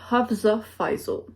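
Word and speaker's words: Hafsah Faizal: la bonne chose ok selon son site web ça se prononce plutôt comme Havez office j'étais certaine de l'avoir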